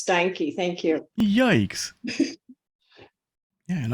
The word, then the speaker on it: Steinke: No, my husband used to beat people up if they called him Stinky. So it's Steinke.